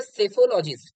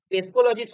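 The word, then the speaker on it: psephologist: তারপর সেফোলজিস্ট, ঠিক আছে, পিটা না এখানে সাইলেন্ট, সাইলেন্ট, ঠিক আছে, উচ্চারণ হবে সেফোলজিস্ট, পেসকোলজিস্ট হবে না, ঠিক আছে।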